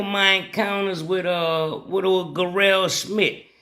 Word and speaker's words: Garelle: encounters with uh what gell Smith I know people say his name Jerel but in that they call him gell cuz it's spelled g a r r uh e l yeah yeah let